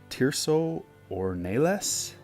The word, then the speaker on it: Tirso Ornelas: Tirso Ornelas, that's how you say his name.